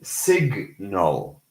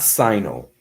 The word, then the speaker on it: signal: For example, sign and signal, not signal.